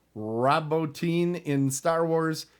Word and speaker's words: Bottin: Rob Bottin, and I think that's how I've heard it pronounced, but it's Bottin.